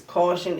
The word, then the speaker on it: Kausion: crazy it's caution it's spelled that way because the G that